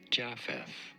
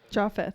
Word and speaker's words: Japheth: It is usually pronounced as Japheth Japheth.